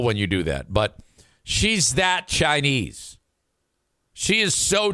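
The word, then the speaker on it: Hsheih: And she would spell, her name was H-S-H-E-I-H. Pronounced she.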